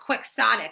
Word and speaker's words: quixotic: on Don Quixote yes I know it's pronounced quixotic but that makes no sense if it's based on Quixote so I say kihanik which is by the